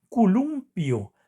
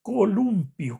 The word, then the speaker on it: columpio: pero no es columpio, sino es columpio con o en lugar de u.